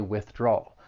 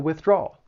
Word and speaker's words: withdrawal: It has three syllables. The stress is on that second syllable, that draw. But it's that third syllable that I I think people have trouble with that dark L. So you're going to stress that second syllable and move right into that dark L which is has that sound.